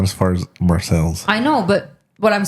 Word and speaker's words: Marseille: We asked a few people in the area and they said it was Marcel's. We were like, oh, who said it was Marseille?